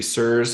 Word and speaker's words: CIRS: to thyroid physiology absolutely sirs or c-i-r-s is how that's spelled stands for chronic inflammatory